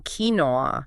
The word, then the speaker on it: quinoa: The weird spelling quinoa.